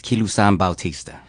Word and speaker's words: Kilusan Bautista: My name is Kilusan Bautista.